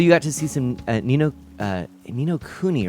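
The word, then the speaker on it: Ni no Kuni: So you got to see some Nino Kuni, right? That's how it's said.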